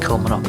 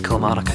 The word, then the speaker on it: Kilmarnock: There's actually a joint line between the Glasgow, Paisley and Greenock Railway and the Glasgow, Paisley, Kilmarnock and Ayr Railway. I pronounced it wrong, it's Kilmarnock.